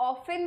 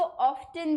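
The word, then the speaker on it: often: सो ही ऑफन makes mistake, ऑफन, इसको आप ऑफन भी प्रोनाउंस कर सकते हो और कुछ लोग इसको ऑफ्टन भी प्रोनाउंस करते हैं. दोनों ही प्रोनाउंसिएशन ठीक है.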